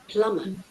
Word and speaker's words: plumber: பிளம்பர், இந்த be silent. பிளம்பர் தான் சார் யூஸ் பண்ண. Plumber.